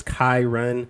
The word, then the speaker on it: Kyrun: you asked all right the correct way to pronounce my name is Kai Run if you wanna run